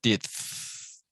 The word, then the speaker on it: teeth: Remember the end at the sound at the end. So teeth, like th. Make a sound between your teeth and your tongue.